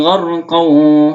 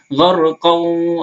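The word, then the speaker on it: غرقا: Wan nazi'ati gharqaw. Nah, gharqaw bukan gharqa lagi tapi gharqaw, langsung masuk ke waw.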